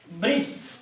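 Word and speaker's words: bridge: फिर कहता है ब्रिज। हाँ, यहाँ पर थोड़ा सा हमने ये जो दो वर्ड है इसमें हमने ले रखा है डी साइलेंट। क्या साइलेंट है? डी साइलेंट, ठीक है।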